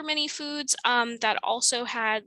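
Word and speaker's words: 蝦: sounded like good business the cantonese pronunciation for shrimp which is ha was um you know sounds like happy laughter and is therefore often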